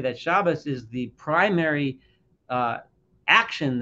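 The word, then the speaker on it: Shabbos: way and excuse me I'm going to use the shabas my traditional way ashkanazi way of pronouncing it but for those that want to call it Sabbath or Shabbat just know what I'm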